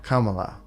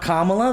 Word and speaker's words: Kamala: Saying technically it's not Kamala. It's not Kamala? Then what is it? It's never what the majority of white people say it is. That's what I've learned. Kamala. Is it Kamala? If you went by like Hindi pronunciation.